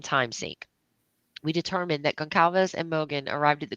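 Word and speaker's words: Gonçalves: Is that how you say? Is it Gal? It's Gonzalez, right? No, it's Gonalves.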